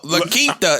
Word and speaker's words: La Quinta: fuck Equinata I think he's is, trying to bro.